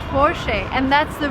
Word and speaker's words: Porsche: the car is called forshay and that's the right way to pronounce it because it's a German name the stress goes to the first part of the word and we say for she will remember never say